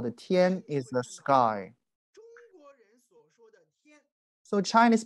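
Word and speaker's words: 天: Chinese characters it's a very important character we pronounce the Tien Tien is a sky from this character we can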